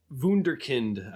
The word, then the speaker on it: Wunderkind: term you sometimes see is wunderkind had say that in German yeah that was that was a pretty good pronunciation gotcha and another example